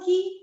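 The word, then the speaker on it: quay: to this and then what is actually pronounced that's also key that's the beauty of this language k e y is also key q u a y is i would have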